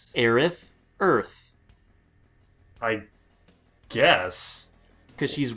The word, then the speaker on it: Aerith: it's I think it's Aerith but Aris sounds a lot easier to pronounce yeah Aerith just sounds kind of dumb no it's supposed to sound like earth Aerith earth I guess cuz